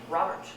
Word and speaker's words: Robert: So he'll do something like use a name, Robert, Robert, Robert. The first syllable is stressed.